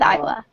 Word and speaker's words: Isla: Well, we'll go with Isla. Well, it's like island. You don't pronounce the S.